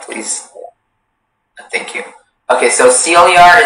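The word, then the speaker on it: sillar: Okay, so Celiar is the only pronunciation.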